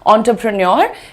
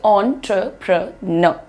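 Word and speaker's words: entrepreneur: प्रन्योर भी बोलना चाहो तो इंडियन एक्सेंट में आता है वो आप बोल सकते हो। एंटरप्रेन्योर लेकिन more accurate pronunciation is ऑन ट्र प्र न।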